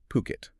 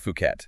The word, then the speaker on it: Phuket: Ocean Worldwide and they specialize in they focus specifically on luxury properties in places like Coami and importantly Puket.